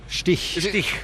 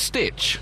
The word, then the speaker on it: Stich: Now, am I pronouncing that correctly? Stich? No. What is it? Stick? Stich. Is it Stitch? No. Because I've always thought it's Stitch, and therefore... I thought it was Stitch.